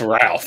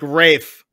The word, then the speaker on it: Ralph: we can pronounce this Ralph that's right that's right right finds yes uh because it's like Rafe yes Ray finds uh